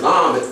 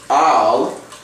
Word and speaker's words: El: when you look at the term Olive and L which is pronounced Al most people are familiar with it being pronounced L what it simply means